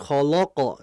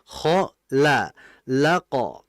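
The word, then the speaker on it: خلق: Jadi jangan khaqo. Jangan. Jangan kholoqo jangan. Yang betul ko laqo. Nah, jadi hati-hati. Lam tidak boleh ikut ketebalan juga seperti halnya kho dan qof.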